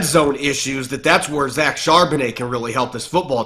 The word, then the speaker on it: Charbonnet: I thought Zach Charbonnet, how do you pronounce his last name? Charbonnet.